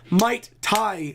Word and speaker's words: Might TXY: Might Tai is the name. Thank you, Might Tai. Oh, so the X is silent. It's like Hunter x Hunter.